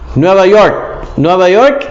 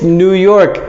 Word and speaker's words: New York: Nueva York is New York, not Nueva York. It's not like you can change the pronunciation and say, oh, it's Nueva York. No, it's New York.